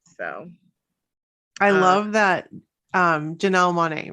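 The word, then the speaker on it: Janelle Monáe: there that's cool so i love that um janelle monae right that's how you say it yes i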